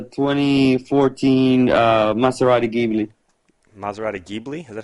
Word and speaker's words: Ghibli: it it's a 2014 uh maserati gaming maserati ghibli is that how you say it yeah that's